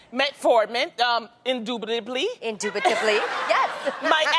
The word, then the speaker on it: metformin: that the diabetes drug metformin is that how you pronounce it I think so yeah metformin um indubitably indubitably yes